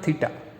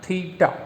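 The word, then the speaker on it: theta: देखा होगा, ऐसा सिंबल, ये, इसका नाम है थीटा। क्या नाम है? थीटा। मैं आपको प्रॉपर लिखता हूँ तो आप प्रोनाउंस कर पाओ, थीटा।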